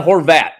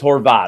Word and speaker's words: Horvat: Odyssey Sports YouTube page rhymes with snot so there you go nobody it's not Horvat so it's Horvat I'm just trying to